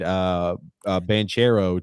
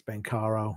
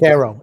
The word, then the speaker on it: Banchero: Drew L says, I kind of find Banchero to be a polarized. What? Bancaro. That was Banchero. It's Bancaro. It's his name. Is that how you pronounce Bancaro? It's Bancaro. That's how it's pronounced.